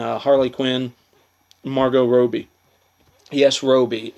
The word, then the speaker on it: Robbie: Quinn Margot Robbie yes Robi it's not Robbie I know there's two bees in it but i'm pretty sure that however she pronounces her name is correct it's Margo Roby um so don't give